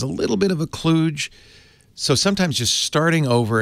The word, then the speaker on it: kludge: a technical term we use in the business it's spelled KL udg now I call that a kludge I've heard people call it a kludge I